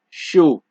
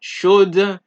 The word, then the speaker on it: chaud: Example: froid, chaud, d'accord, right? For D, froid, chaud, d'accord. So it's not froide, it's not chaude, it is not d'accord. It is froid, chaud, d'accord.